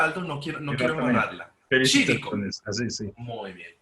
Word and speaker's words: Cívico: Mi invitado es el señor Aldo Chívico, así se pronuncia Aldo, no quiero Exactamente. embarrarla. Chívico.